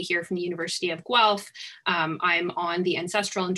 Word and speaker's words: Guelph: in the University of Guelph it is pronounced as though there was a w in the title and we're located for